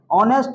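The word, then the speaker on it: honest: जो होता है ऑनेस्ट ऑनेस्ट में एच साइलेंट होता है ऑनेस्ट पढ़ाता है हम लोग इसको अगर समझ बूझ के याद करेंगे तो एच ओ एन ई एस टी माने ईमानदारी से पढ़ेंगे तो नेस्ट पढ़ना चाहिए है कि नहीं लेकिन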